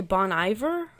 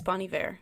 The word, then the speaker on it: Bon Iver: how you say it I used to say Bon Iver but I think it's Bonnie Bear you know what it